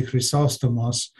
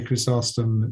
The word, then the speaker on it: Chrysostom: syllable um but in in greek of course it would be crisostomos so uh you know you can say that as well um i mean i tend to say chrysostom because that's what i tend to say uh but if you if you say chrysostom that's fine so either is possible um in english good